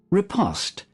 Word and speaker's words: riposte: And the French seems to be an O sound, but just pronunciation emphasizing the wrong or the different syllable to English.